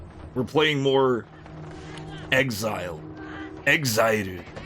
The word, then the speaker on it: XZR: So, it's probably XZR, but it's it's obviously pronounced exit exile because that's what's written on the letters.